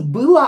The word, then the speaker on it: было: So, было, on that stressed, pronounced as a.